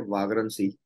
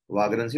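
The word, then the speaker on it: vagrancy: तो इस प्रकार की जो सिचुएशन है उसको नाम दिया गया है वाग्रंसी. क्या नाम दिया गया है? वाग्रंसी और वेग्रंसी whatever you can pronounce, it's अप टू यू.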